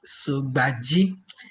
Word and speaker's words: Sugbaji: My name is Sugbaji. Yeah, so the pronunciation is Sugbaji, and I am the curriculum and training officer at Practical Education Network.